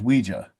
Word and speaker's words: Ouija: always call it a Ouija board you say Ouija which is the proper pronounce ofation I assume right correct yeah so